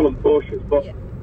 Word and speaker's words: Porsche: call them Porsches, but. Yeah. It is pronounced Porsche.